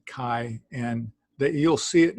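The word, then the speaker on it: καί: ok moving down to people will say this is the key if you're a modern Greek if you're Erasmus it would be Kai so this is I I like I pronounce a Kai and that you'll see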